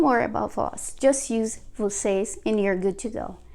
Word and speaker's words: vocês: of you, which is vocês. Very easy, very simple. Just have to add an S here. As you can see, is the same spelling and the same pronunciation, plus s at the end.